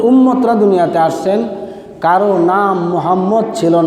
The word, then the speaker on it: মুহাম্মদ: এই মুহাম্মদ যদি উচ্চারণ করতে হয় তাহলে ঠোঁটে ঠোঁটে চুমা দিতে হয়। কি দিতে হয়? ঠোঁটে ঠোঁটে চুম্বন দিতে হয়, আর না হয় নবীর নাম উচ্চারণ করা সম্ভব না।